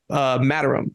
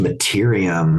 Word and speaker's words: Materium: And it's around Matterum. Can you kind of explain like what that is and why that plays a really big part of the game? It's pronounced Materium. Materium.